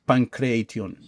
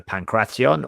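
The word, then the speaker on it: pankration: What is pancration? Pancration. Pancration, I'm sorry. Pancration, yeah. So sometimes people call it pancration, but the correct pronunciation is either pancration or pancratio.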